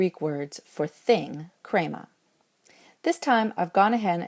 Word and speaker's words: χρῆμα: Krema wants to have a circumflex and stay over the eta.